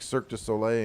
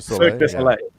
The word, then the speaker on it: Cirque du Soleil: Like Cirque du Soleil in Canada.